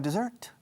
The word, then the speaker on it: dessert: Are you going to have dessert? Okay, the waiter, after you have finished your second course, he always asks, ¿van a tomar postre? Are you going to have dessert? Segunda sílaba lleva la acentuación. Dessert.